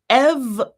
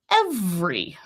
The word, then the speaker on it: every: It's every, or every, right? So I've got this sound here is eh, then I've got my schwa, then I've got that E again. Every or every. 3 syllables or 2.